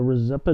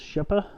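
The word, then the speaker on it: Rzeppa: the first one is a rosetta joint it's actually pronounced chipper just so you know but however you want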